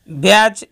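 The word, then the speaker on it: batch: ইংরেজি শব্দের শেষে টিসিএইচ থাকলে উচ্চারণ চ হবে। যেমন ব্যাচ এবং ম্যাচ দুটি শব্দের শেষে টিসিএইচ রয়েছে কিন্তু তাদের উচ্চারণ একত্রে চ হবে।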